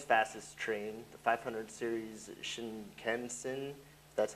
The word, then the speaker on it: Shinkansen: And this is the Japan's fastest train, the 500 series Shinkansen, that's how you say it, operated by West Japan Railroad Company, capable of 320 kilometers per hour, 200 miles per hour.